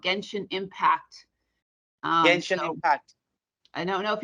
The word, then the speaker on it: Genshin: And my daughter was a character from some anime game called Genshin Impact.